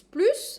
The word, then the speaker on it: plus: number six and then plus is plus and I'm pronouncing the S 6+ 6 6 +